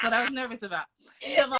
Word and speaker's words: Siobhan: Siobhan. It's okay. You know what? It's tricky though because it's the Irish spelling, the Gaelic way of spelling it.